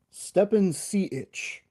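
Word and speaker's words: Stepan Šejić: Stepan Sejic.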